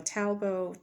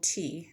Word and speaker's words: Talbot: So Talbot, Talbot. The T is silent.